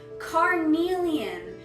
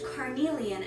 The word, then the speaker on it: Carnelian: Carnelian. It's very interesting because there's a stone, a red stone named Carnelian, and it is healing, and Carnelian is a healer.